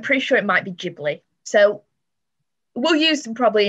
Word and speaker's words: Ghibli: pick is um the studio ghibli or jubilee depending on how you personally pronounce it i say gibbly i don't know why